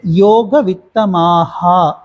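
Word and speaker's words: योगवित्तमाः: தேஷா கே தேஷா கே யோக வித்தமாஹா மா நெடில் அப்படிங்கறதுனால மாஹா அப்படிதான் சொல்லணும் யோகவித்தமாஹா இப்படிதான் சொல்லும் வாசிக்கலாங்களா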